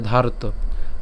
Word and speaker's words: ধার্ত: এই যেখানে রেফ আছে, তো এখানে রেফ থাকার কারণে আমাদের উচ্চারণটার মধ্যে আগে রটা উচ্চারণ হয়ে যায়, ধার। এরপর আসা হচ্ছে তো, তাহলে ধার্ত। রাষ্ট্রানাং।